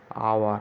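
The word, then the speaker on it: hour: এখানে এইচ আছে, এখানে হওয়া উচিত ছিল দ্য আওয়ার, কিন্তু এইচের উচ্চারণ এখানে আমরা করি না, আমরা করি হাওয়ার। হাওয়ার করি না, আমরা বলি আওয়ার।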